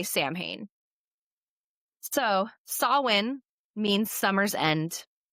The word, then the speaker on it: Samhain: We pronounce it Samhain, and it's spelled like Samhain. So if anybody's ever... Don't say we as if I say Samhain. Americans mostly say Samhain.